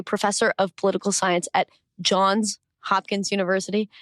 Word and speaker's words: Johns Hopkins: of political science at John's Hopkins University had to make sure to pronounce the S there and a senior fellow